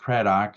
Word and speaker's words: Craddock: kok and uh the last name is pronounced kadok spelled like had or yep only with a